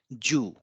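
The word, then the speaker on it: じゅう: have 10 and 10 it's called Jew so you can see here it is G it is U so G plus u it is U and we have an additional U so this makes it U a long sound again Jew so this is from 1 to 10.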